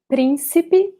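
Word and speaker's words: príncipe: portuguese so here principe principi notice that we have an accent here so we should pronounce this first syllable as the strongest one principi principi okay and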